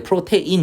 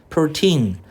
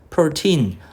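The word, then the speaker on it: protein: 아 이거 발음할 때 프로테인 이렇게 발음하지 마 제발 부탁인데 프로틴 프로틴 아 그거 여러분 짐에가 가지고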